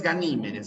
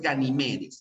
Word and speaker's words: Ganimedes: era ganimes ganimes ya en algunos libros Y de forma incorrecta aparece ganimes pero no es ganimes ya es ganimedes es una palabra eh grave que termina en es por eso es que no se tilda es ganimedes ganimes es